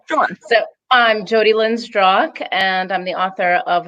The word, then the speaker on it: Zdrok: Before I do that, I want to know if either one of you knows how to pronounce my last name. Is it Zdrok?